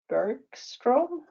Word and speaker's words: Bergström: The name, I hope I don't give you away here, but Bergström. I bet it's pronounced Bergstrom in English, but it is a Swedish name.